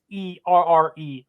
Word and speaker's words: Auxerre: If you're looking for it, because the pronunciation's crazy, it doesn't look like how it's spelled. It is Auxerre, French League 2, first place team.